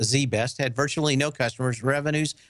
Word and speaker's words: ZZZZ Best: for a long time zzzzz best pronounced Zee best had virtually no customers